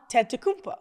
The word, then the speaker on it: Antetokounmpo: Yeah, you just used the T twice. T twice. Antetokounmpo. Yeah, that's it.